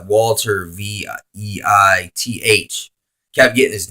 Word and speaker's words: Walter Veith: His name is Walter Veih. And it's like Walter Veith. Kept getting his name wrong.